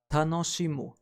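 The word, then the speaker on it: 楽しむ: To enjoy is pronounced as tanoshimu, and you can remember it through following sentence. Dancing tango is a lot of fun. Tanoshimu tango, for fun.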